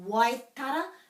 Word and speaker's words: Waitara: We've got Waitara, so that's similar to kaipara. We're pronouncing all the sounds there.